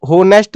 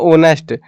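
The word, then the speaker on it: honest: ही इज होनेस्ट बॉय, देखो होनेस्ट नहीं होता ये, कुछ बंदे ऐसे बोलेंगे होनेस्ट, और ये तो तुम गलत कर दोगे फिर, है ना। इसको हम जो एच साइलेंट होता है, ये इंग्लिश के नशे है थोड़े से, इसको बोलते हैं ओनेस्ट, है ना।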